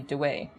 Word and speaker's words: Dawei: Also, the Burmese contemporary pronunciation would be Dawei.